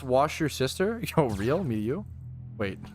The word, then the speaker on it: Worcestershire: It's pronounced wash your sister.